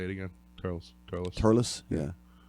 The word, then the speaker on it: Thurles: Turles. Yeah. Thurles. Yeah. That's how you pronounce it. Turles.